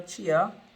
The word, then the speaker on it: chia: This is some chai or chia. Some of us pronounce it chai, some pronounce it chia.